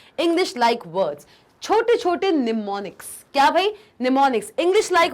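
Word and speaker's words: mnemonics: होता है इसमें जो एम होता है वो साइलेंट होता है वो साइलेंट होता है इसलिए हम इसको निमोनिक्स कहते हैं इसका स्पेलिंग ये है लेकिन एम इसमें साइलेंट होता है इसलिए हम इसको प्रोनाउंस निमोनिक्स कहते हैं तो भाई हमने असेंबली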